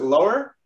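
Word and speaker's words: Löhr: You pronounce it Lohr? Yeah, in Germany it's Lohr. Lohr, okay. Because we have the O with the two dots over.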